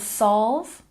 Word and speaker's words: solve: And solve, say it with me, solve, solve. The L sound isn't exactly invisible in this sound, but we do tend to soften it.